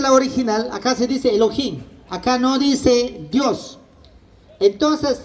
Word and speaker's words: Elohim: Se pronuncia Elohim.